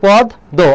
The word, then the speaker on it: পদ্ম: এখানে দেখো পদ্ম, তাহলে পদ্ম হবে না, এটা কি হবে, পদ দো। অনেকে পদ্ম উচ্চারণ করে, মহাফলার উচ্চারণ শুরুতে থাকা শেষে থাক উচ্চারণ হয় না, কিন্তু মহাফলা থাকলে যার সঙ্গে থাকবে সেই বর্ণটা দিতে হবে।